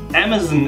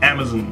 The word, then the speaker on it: Amazon: so you know M Amazon is pronounced at the end the zon part like the word on like I am on the bus pronunciation of on love your videos I've